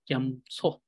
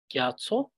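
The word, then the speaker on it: རྒྱ་མཚོ: So you can pronounce it as gyamso. Gyamso. So you can either pronounce it as gyatso or you can pronounce it as gyamso.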